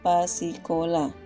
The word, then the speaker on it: pasikola: Huruf Pa dulu, kemudian huruf Sa tanda baca I, Ka tanda baca O, kemudian huruf La. Jadi bacanya pasikola, yang artinya anak sekolah.